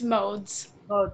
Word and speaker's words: Modes: great job Corrine amelia mode am i pronouncing your name right amelia its modes okay amelia modes is a third-year undergraduate